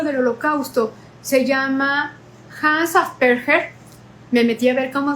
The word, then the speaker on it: Asperger: Bueno, en realidad este no es el libro del holocausto, se llama Hans Asperger. Me metí a ver cómo se pronunciaba. Se dice asperger en alemán, que un lo entendí